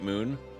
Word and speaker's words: Mun: drinking any Gatorade you how else would you pronounce mun obviously it's mun that poor poor Kerbal it was pixelated on Crash that's true it was pretty messy I guess I always just pronounced it Moon our rocket is in